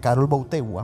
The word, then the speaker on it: Karol Wojtyła: Porque mira, en este documental hay 3 sacerdotes de Karol Wojtyła, uh-huh, que es así como se pronuncia el nombre real, uh-huh, de Juan Pablo II.